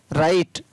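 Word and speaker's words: right: आर आई जी एस टी राइट, एल आई जी एस टी लाइट, एस आई जी एस T site.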